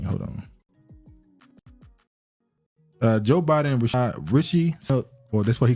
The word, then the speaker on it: Rishi: Don't call him what Biden did, Rashard. No, it's Rishi or Rashi Sunak.